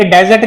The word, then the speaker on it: dessert: ये वाला, पर प्रोनाउंसिएशन डिफरेंट है। स का साउंड मैंने बढ़ा दिया, डिजर्ट, डेजर्ट, डेजर्ट, डेजर्ट।